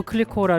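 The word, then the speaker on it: Clicquot: 클릭 돌아와 볼게요 배부 클리코 밑에 드디어 당도를 나타내는 부리가 보입니다 클리코 티를 발음하지 않았던 것처럼 브리도 티를 발음하지 않고 부리라고 읽으시면 됩니다 제일 하단에 작은 글씨는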